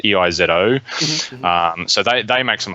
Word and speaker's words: EIZO: They ended up getting bought out by a company called IZO. I think it's pronounced EIZO.